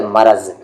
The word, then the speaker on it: مرض: اسے بہت سارے لوگ مرض پڑھتے ہیں، مرض نہیں ہے اس کا صحیح تلفظ، اس کا صحیح تلفظ ہے مرض.